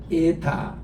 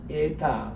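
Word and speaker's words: ἦτα: 요거는 Z가 들어가는 제타, 요거는 에타, 에가 깁니다.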